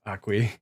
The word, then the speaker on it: Aki: And yes, I know it's spelled Aki, but the name is pronounced Akui.